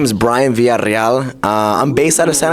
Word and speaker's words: Villarreal: the two L's is a ya sound, and the two R's is a rrr sound. So it's so it's Villarreal, right? Ooh. That's my last name. So don't say Villarreal, because that's not the right way to say it.